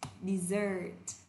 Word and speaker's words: desert: Từ này khi mà chúng ta đọc thì chúng ta lại đọc là từ này là dessert. Dessert. Trọng âm thứ hai.